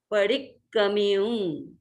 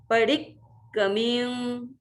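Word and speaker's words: पडिक्कमियुं: जैसे मैंने उस दिन बताया कि 2 क है, एक क को डी के साथ अपन मिला के थोड़ा सा उच्चारण कर लेते हैं तो दो क भी शुद्ध अपने आप हो सकते हैं।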